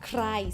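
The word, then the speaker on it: ใคร: Krai. See, it's a cluster with K and R. Krai. Krai means who. Flat tone.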